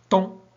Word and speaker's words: temps: Temps, le PS ne se prononce pas, etc.